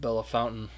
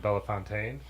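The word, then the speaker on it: Bellefontaine: what I mean it's somebody was just talking about Bella fountain on radio that was a big one when we first went there we were saying Bella Fontaine and then all the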